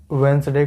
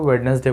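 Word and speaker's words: Wednesday: बहुत सारे बच्चे वेंसडे को वेडनेसडे बोलते हैं, ध्यान रहे प्रोनाउंसिएशन आप तो सही करिएगा।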